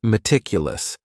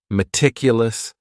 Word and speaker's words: meticulous: And this word has four syllables. And the stress is on that second syllable. Meticulous. Meticulous. That first syllable also has that schwa, that a sound, that reduced vowel sound.